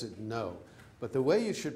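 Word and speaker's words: Ngô: to pronounce things like NGO. I'm going to pronounce it no, but the way you should pronounce it is take the word sing, S-I-N-G. Now drop the S and the I.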